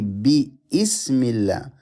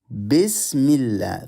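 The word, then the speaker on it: بسم الله: You notice this Alif, we don't read it. We don't say Bismillah. We say Bismillah.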